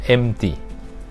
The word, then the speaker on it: empty: M G M T ตัว นี้ ไม่ ออก เสียง ตัว P นะ ครับ อย่า ออก ว่า emptiness ครับ เพราะ ว่า empty mg แปล ว่า ว่าง เปล่า